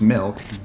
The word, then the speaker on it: milk: No, you're saying it wrong. You're saying Malk, like it's a disease. How do you say it? I'm saying it the way everyone ought to say it. Milk.